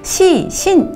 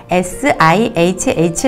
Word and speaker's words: SIHH: 하나의 단어로 생각하신 거예요 그런데 sihh 가 줄임말 이기 때문에 시신 절대 그렇게 발등 하시면 안되고요 sihh 라고 발음을 하셔야 합니다 sil 제츠 는 매년